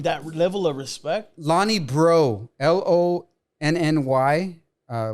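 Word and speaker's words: Breaux: level of respect lonnie bro l-o-n-n-y uh last name is spelled b-r-e-a-u-x like french bro interesting honey bro uh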